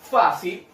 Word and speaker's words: fácil: Fácil se separa en dos, ¿cierto? Fa, si. Ahora tenemos que saber dónde cargo la voz. En este caso sería en la sílaba fa.